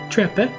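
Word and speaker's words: Trepe: I, Quistis Treppe, am no longer an instructor as of now. I believe I went with that pronunciation, right? Yes, because we didn't like the trapeze.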